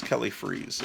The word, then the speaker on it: Freas: And I guess it wasn't, so it's Kelly Freas. I'm back to the way I pronounced the name for many decades.